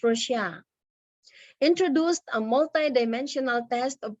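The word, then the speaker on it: Rorschach: on the man-to-man scale the nerman res that is pronounced as russia introduced a multi-dimensional test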